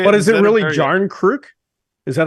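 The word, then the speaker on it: Järnkrok: Jarnkrok. No, but that's not what he said. It was a hard J. Jarnkrok.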